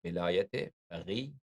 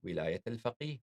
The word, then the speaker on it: Velayat-e-Faqih: So you could, this word Velayat-e-Faqih, you could mention it and you could pronounce it in different ways. You could use the Persianized pronunciation Velayat-e-Faqih, or you could use the Arabic pronunciation Velayat-e-Faqih.